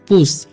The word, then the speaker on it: puss: ठीक है, उसी तरीके से यहाँ लिखा हुआ PUSS, तो पी से हो जाएगा प, यू का उच्चारण ऊ और SS से हो जाएगा मतलब तलावेसर। ठीक है, तो पढ़ेंगे हम पुश।